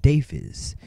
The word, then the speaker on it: Deiphiz: As you can see, my name was in the intro, and it is pronounced Deiphiz.